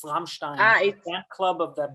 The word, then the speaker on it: Rammstein: I think the first sponsor, they would get upset if we don't pronounce the name right. It's Rammstein, the fan club of the band Rammstein.